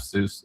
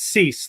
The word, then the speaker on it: Suess: Your answer is going to be Seuss. Is did we pronounce that correct? By the way, it's actually it's cease like cease and desist.